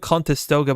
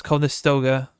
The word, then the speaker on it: Conestoga: I call it Contestoga, but it's Conestoga.